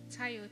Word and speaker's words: Tayo: How do you pronounce it? Tayo, T-A-Y-O.